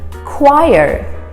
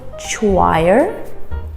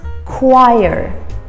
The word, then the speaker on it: choir: looks gorgeous tonight gorgeous the next g is pronounced as a j gorgeous number four choir choir we don't say choir it's choir for example she sings in the church choir